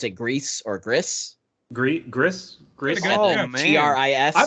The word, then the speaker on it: Gris: It's Gris.